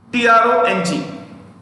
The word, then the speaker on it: Trong: I repeat, P-H-U space T-R-O-N-G, T-R-O-N-G. So N-G-U-Y-E-N. You know how is it pronounced?